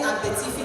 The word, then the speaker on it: Abetifi: We say Epitifi to say Abe, but it's really rocks. So it's the height of the rocks where the travelers settled and made that the new name of Epitifi.